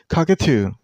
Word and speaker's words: cockatoo: This name has three syllables. Cockatoo. And you also stress on the last syllable. I mean on two sound. So cockatoo.